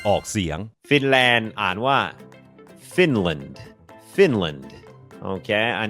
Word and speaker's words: Finland: เป็น คอร์ส ฝึก ออก เสียง ฟินแลนด์ อ่าน ว่า finland finland โอเค อัน นี้ บ่ง บอก ว่า อ